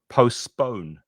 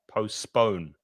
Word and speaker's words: postpone: Notice with postpone that you're stressing the second syllable, which is this one. So postpone, postpone, postpone the meeting.